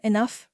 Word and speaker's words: enough: took a Furlow though sound three this rhymes with Bluff and stuff the words to learn are enough rough and tough and here's a little